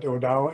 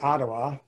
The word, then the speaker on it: Odawa: And the Odawa probably pronounce it differently too, because they got Odawa and Ottawa. It depends on what community you're in. Some people call themselves Ottawa, and other people call themselves Odawa.